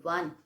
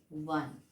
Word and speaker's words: one: And children, when the word is starting with one, okay, and the pronunciation is W-A, wa, like 1 rupees note, okay, 1 rupees note. So here the pronunciation of, we never say on, we say one.